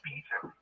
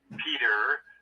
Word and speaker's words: Peter: Oh, well, I didn't catch your accent immediately, but sometimes they say Peter, but we pronounce the T in Britain.